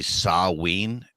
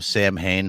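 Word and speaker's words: Samhain: Sam Hayne uh so the like proper pronunciation of that is actually saween and I swear to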